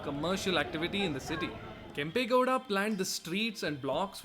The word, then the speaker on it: Kempegowda: Kempegowda the Kempegowda. Kempegowda.